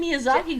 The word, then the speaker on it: Miyazaki: ghibli wrong you're saying you're saying miyazaki correctly you're saying ghibli like